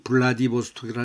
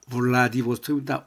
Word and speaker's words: 블라디보스톡: 왜 우리는 흔히 블라디보스토이라 하는데 틀렸습니다. 블라디보스톡입니다. 블라디보스터 브 이거는 배를 저 V의 발음이 나와야 됩니다. 영어에서 세 번째는 V의 발음이 나와야 되고 지금 요렇게 두 번째 베는 입술을 붙여야 됩니다. 빡빡하게 발음을 해야 됩니다. 아 배 배 입술을 좀 딱딱하게 배 입술을 붙이면서 배어로 비지만 세 번째는 왜 이건 아주 입술을 살짝 물면서 왜 라디보스톡 블라디보스톡 하면 안 됩니다.